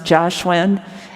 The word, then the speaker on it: Jiaxuan: But like my mother's name is pronounced Jiaxuan, and the romanization in the 40s was Jia sound starts with a K, K-I-A, and Xuan, the sh sound was H-S. So my dad's name was Xu, and his name is H-S-U, and my mom's name is K-I-A-H-S-U-A-N-G. It's pronounced Jiaxuan. But it's different.